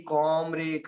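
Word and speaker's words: comb: Comrade, comrade को ध्यान से देखिए, कॉमरेड, कॉम, कॉम, जो कॉम होता है ना कंगा, उसमें बी साइलेंट होता है।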